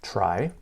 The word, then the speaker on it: trie: problem a try pronounced try so t-r-i-e pronounced try or prefix tree is